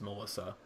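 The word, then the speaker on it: M3LL155X: m three ll 1 55 x but it's pronounced melissa see i go check this out it's amazing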